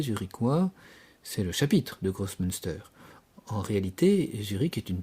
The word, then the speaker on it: Großmünster: Une des têtes du clergé est le chapitre de Großmünster, comme ça se prononce, chapitre de chanoines, qui va jouer un rôle essentiel dans le basculement protestant de Zurich.